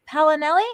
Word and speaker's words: Paolinelli: tonight we have a very special guest richard palinelli am i pronouncing that correctly yes you are oh perfect